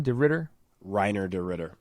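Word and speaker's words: Reiner de Ridder: De Ritter? Reiner de Ritter. Reiner de Ritter, that's right.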